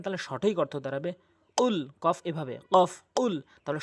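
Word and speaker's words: قُلْ: যায় এখানে অধিকাংশ লোক কুল বলে যার ভুল অর্থ হচ্ছে রাসূল আপনি খান নাউজুবিল্লাহ আর কফটি যদি জিহ্বার গোড়া উপরে তালু থেকে উচ্চারণ করেন তাহলে সঠিক অর্থ দাঁড়াবে কুল কফ এভাবে কফ কুল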